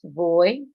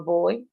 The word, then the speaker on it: voy: We all know that the V is pronounced as B for like bottle instead of V for violin. So it's boy or boy.